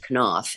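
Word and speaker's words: Knopf: about this woman Blanche can off and that is how you pronounce it, I thought it was not enough publishing its can off.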